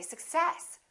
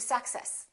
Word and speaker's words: success: Now, do we say success or do we say success? If you're speaking quickly and you stress the wrong syllable, definitely your words are going to be difficult to understand. So in this case, we stress the second part and we say success. I wish you success.